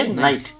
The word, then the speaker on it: knight: Case silent होता है इसमें। क्या पढ़ेंगे? नाइट।